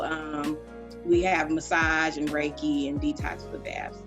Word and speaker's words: Reiki: i say it right is it reiki or rikki reiki reiki we talking about the reiki in massages